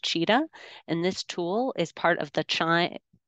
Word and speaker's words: Qiita: QIITA is pronounced cheetah, and this tool is part of the Chime set of tools for analyzing microbiome data.